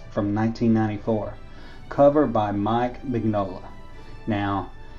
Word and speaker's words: Mignola: Now, some people pronounce the G, some people don't. I always said Mike Mignola. I always pronounce the G, so I may be pronouncing his name wrong, and have been pronouncing his name wrong for years.